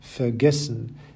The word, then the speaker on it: vergessen: You may have noticed that all the words on the left-hand side have their stress on the second half of the word, bekommen, vergessen, besuchen, versuchen, verstehen, gewinnen, and entscheiden.